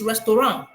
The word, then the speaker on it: restaurant: But if you go to France or in the French way, they don't pronounce it as restaurant. It's restaurant without the last word being pronounced. Do you understand?